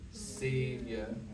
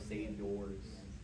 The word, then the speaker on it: savior: to make is it's remember how we pronounce savior savior was hearing a lot of save yours just doesn't doesn't sound great but otherwise it's sounding